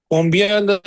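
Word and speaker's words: combien: कोमो कोमो से आप वाकिफ हैं कोमो टी साइलेंट है कोमो देन कम्स केल क यू ई एल केल देन कम्स कॉम्बिया नेज़ल साउंड के साथ एंडिंग हो रही है कॉम्बियन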